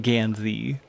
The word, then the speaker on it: Gansey: Are you saying Gansey? I keep hearing Gamsey. Yeah, not Gamsey, like Homestuck. Gansey. Like, Gansey, I believe is how it's spelled, if I remember correctly.